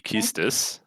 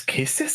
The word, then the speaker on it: Quistis: Is Keystis the right way to say this? Keystis? I don't know. I thought it was Quistis. I think it's Keystis.